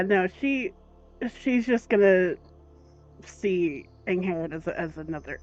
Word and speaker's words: Angharad: Angharad, yes.